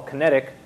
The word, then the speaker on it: Kinetic: Okay, so this work that we call Kinetic, it's meant to rhyme with some of Nate Foster's work, frenetic and pyretic and so forth, but the name Kinetic